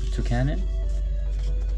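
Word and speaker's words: Toucannon: We have Toucanon?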